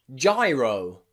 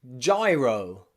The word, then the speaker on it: gyro: G plus Y follows the same rule, which means normally it's pronounced J. Often J, okay, like in gyro, gyro, gyro, okay? Or you might go to do some exercise in a gym, gym, okay? The pronunciation of the Y changes to I there, gym, gym. But the G, as you can hear, is a J, gym, gym, gym, and gyro.